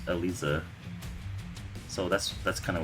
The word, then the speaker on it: Eliza: can't either uh yonver in japanese like her name is pronounced elisa so that's that's kind